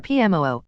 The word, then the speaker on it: PMOO: They are dubbed Paramilitary Operations Officers, or PMOO, which they pronounce PMO.